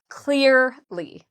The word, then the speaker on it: clearly: So first of all, clear is the part we stress. So we say clearly. Clear is louder and longer.